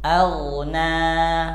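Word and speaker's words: أَغْنَىٰ: ngalir bukan mantul a bukan AG karena huruf ini punya sifat rakhawah bukan Qalqalah Agna sedangkan yang punya sifat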